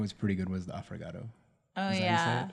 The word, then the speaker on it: affogato: Oh, you know, actually, what was pretty good was the affogato.